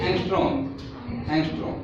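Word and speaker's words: ångström: How we pronounce that A and A एंगस्ट्रॉम, ठीक है।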